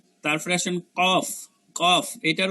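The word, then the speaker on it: ق: যেরকম আওয়াজ হয় এরকম কফ, এই যে একটা শব্দ হইতেছে, তাইলে এটা হচ্ছে জিহ্বার গোড়া তার বরাবর তালুর সঙ্গে লাগে কফ, কফ।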